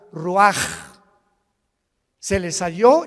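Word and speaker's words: רוּחַ: Así como suena, se pronuncia la CH en hebreo como J, Roach.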